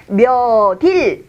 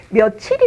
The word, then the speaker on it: 며칠: 이것을 발음을 할 때 몇 이 이라고 해야 어 면 얼과 며 칩이 같은 원리로 발음이 되는 거예요 그런데 우리는 아무도 이것을 몇 이라고 발음하지 않습니다 우리 모두 이것을 며칠이 라고 발음 하지요 이런 결국 이 7시